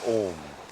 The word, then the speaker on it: Om: Now, when we do Om, it is A-U-M.